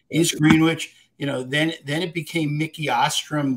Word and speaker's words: East Greenwich: Am I saying it south? You are, yes. East Greenwich.